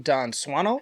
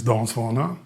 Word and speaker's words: Dan Swanö: of many bands and projects of his own, Don Swano. And yes, that is the proper pronunciation from his own mouth. Hello, my name is Don Swano.